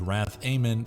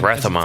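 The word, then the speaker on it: Rath-Amon: I think you got that name wrong, brother. Adventures just begin as he Rathamon. fights off the serpent-faced sorcerer. Wrath Amen. I didn't even watch Conan, I know that name. He even said Rathamon.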